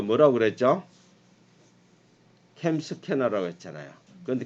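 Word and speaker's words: CamScanner: M 스캐너 했잖아 선생님. 캠 스캐너. 제 발음이 안 좋은가 보다. 아니, 캠 스캐너입니다. 캠 스캐너.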